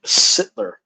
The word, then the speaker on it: Sittler: Sittler. Rhymes with Hitler.